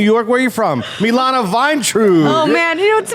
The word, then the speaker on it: Vayntrub: Milana Vine.